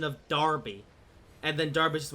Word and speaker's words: Derby: Yeah, something to realize, it's pronounced Darby, but spelled as Derby.